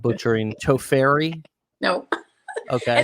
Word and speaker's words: Tofferi: back on to make sure I'm not butchering Tofferi. No. Okay. It's okay, Dave. Nobody says it correctly. It's a Yeah. Finnish name. It's a weird Finnish name. It's pronounced Tofferi. Tofferi.